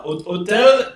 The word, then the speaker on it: hotel: Hotel is hotel. It's the same thing, except you don't pronounce the H.